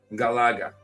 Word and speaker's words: Galaga: It wasn't Galactica. It was um Galaga. Galaga. That's how you pronounce it.